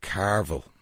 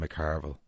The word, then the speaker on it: McCarville: I've done a recording of Alison Carville. I keep getting her name wrong, and she gave out to me today. Alison McCarville. I have to say the Mac right.